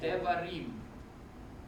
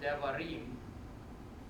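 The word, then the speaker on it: דברים: So when the accentuation occurs on the word devarim, the last syllable is called tonic.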